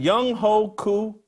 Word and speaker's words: Younghoe Koo: Is it Younghoe Koo?